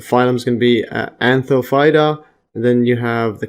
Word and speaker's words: Anthophyta: Anthophyta. Yeah, so Google pronounced that.